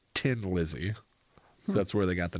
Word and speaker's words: Thin Lizzy: like a yeah yeah it's like a joke on the way the Irish people also pronounce a th like a 10 Lizzy yeah it was ten